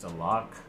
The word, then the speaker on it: Stalock: a veteran goalie the other day and Alex stalock that's how you say it I think it